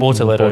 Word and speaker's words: Bortoletto: Bortoletto.